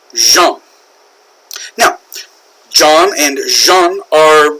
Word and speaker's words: Jean: Jean boy that's French is that pronounced Jean in French no Jean would be like blue jeans okay so that's not how it's pronounced in French that is pronounced jump now John and Jean